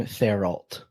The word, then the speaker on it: Thériault: I'm American, not French Canadian, so I'm going to call him Thériault.